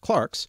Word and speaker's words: clerks: in the Middle Ages clerks sometimes now pronounced Clarke's were the only well-educated